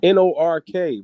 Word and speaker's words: Newark: Newark. Who was that? Lance Meyer. Who is that? Newark. Yeah. It's Nork, bro. Hey man, listen, just because y'all pronounce stuff funky don't mean make it right.